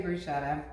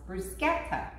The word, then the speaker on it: bruschetta: We do say bruschetta. And I have learned from our viewer, thank you so much, that this is actually pronounced bruschetta.